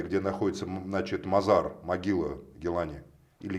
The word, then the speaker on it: Гилани: И центр его находится в Багдаде, где находится, значит, мазар, могила Гилани. Или Гилани. Скорее всего, на последнем Да, слоге Гилани.